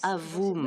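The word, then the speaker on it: AVUM: AVOM en anglais, AVOM avec la prononciation française.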